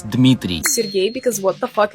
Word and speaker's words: Dmitry: It's definitely not Dmitri. It's Dmitry.